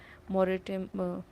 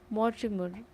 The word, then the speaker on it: Mortimer: your words like you I'm just reading the wrong pronunciation of his surname Dr. James Morit like this is how I was reading Morimer this is Mortimer Dr. James Mort Mortimer is the correct I guess Dr.